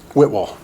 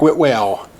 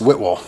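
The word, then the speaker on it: Whitwell: here before i'm almost positive but it is pronounced whitwol whitwall tennessee and he might look like wit whale and it might should be there i don't know but it's whit will if you print anytime i've heard anybody mention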